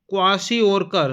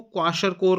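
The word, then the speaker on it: Kwashiorkor: वैसे जो सही शब्द है ना वो क्वाशर कोर करके होता है। जैसे इंग्लिश का जो प्रोनाउंसिएशन आप देखिए क्वाशर कोर। ठीक है? हिंदी में थोड़ा सा मिस्टेक है यहां पे।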